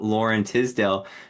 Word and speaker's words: Loren Tisdelle: show and today I'm extremely excited to have Lauren Tisdale uh join me on the show and uh I did pronounce that correct right you did Robert yeah